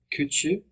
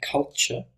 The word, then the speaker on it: culture: two is probably unnecessary kuchu should be culture so let's work on